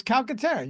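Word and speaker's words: Calcaterra: was like there can't that can't be right it's calcatera you were 100% right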